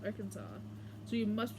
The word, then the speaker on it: Arkansas: Ar Arkansas must be pronounced arans. I mean, that's how it's pronounced. Arkansas.